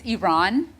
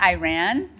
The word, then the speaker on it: Iran: I do say this, I do have a rule, it's Iran, okay? It's not Iran. And I remember I tweeted a while back, I was like, if you don't know how to pronounce Iran right, you don't get